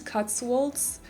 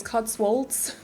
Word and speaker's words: Cotswolds: inspired by england to cuts wolves i think that's someone corrected me because i think i called it cuts wold the other day but it's cotswolds i obviously i'm not